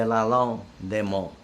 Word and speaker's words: Lalande-des-Monts: It was Camp, I'm going to spell it. Camp, D-E, new word, L-A, new word, L-A-N-D-E, new word, D-E, new word, M-O-N-T-S. Yeah, Mons is the city it's near. Camp de Lalande-des-Monts.